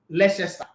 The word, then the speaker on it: Leicester: bacca it's a sebastian almost everybody also call it leicester it's leicester city so it's it's it's